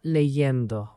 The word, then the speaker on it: leyendo: Estaba leyendo. Estaba leyendo. Good. A tiny pronunciation note here. Leyendo has that Y sound in the middle. Leyendo. Because leer turns into leyendo.